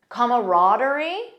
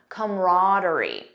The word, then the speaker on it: camaraderie: word camaraderie or comaraderie notice the first pronunciation has an extra sound comma comaraderie the second one just says come comraderie most American speakers in my experience say camarad that's the one that I personally use this is a noun